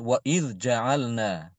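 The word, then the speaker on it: وَإِذْ جَعَلْنَا: huruf Jim contoh seperti Wa id ja'alna Wa id ja'alna maka Imam Hisyam membaca dengan Idgham waid ja'alna waid ja'alna seperti itu ya diitamkan ingat kalau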